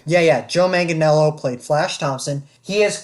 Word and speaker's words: Manganiello: the bully it was joe mangianello powder that's pronounced right yeah yeah joe manganiello played flash thompson he has currently most recently